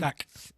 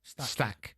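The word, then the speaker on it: Stach: Uh Anton, is it uh how do you pronounce his name? Stack. Is it? Stack.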